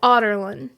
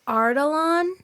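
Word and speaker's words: Adarlan: so sometimes she says ardalon yeah like there's an r in the first syllable but it's actually in the second syllable and the narrator actually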